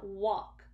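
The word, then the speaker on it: wok: into cabinets, and then he got out and walked wobbly until he fell over, which he thinks is the funniest thing in the world. So here's a picture. He's in a walk, which is spelled W-O-K, walk.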